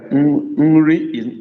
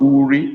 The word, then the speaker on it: nri: Daria, nri is not uri, it's nri, N-R-I.